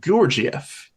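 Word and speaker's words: Gurdjieff: do you say uh different people pronounce it differently you can pronounce it um or if you want to be like more authentic to the sort of Armenian Turkish pronunciation it's more like georgiev yeah but that with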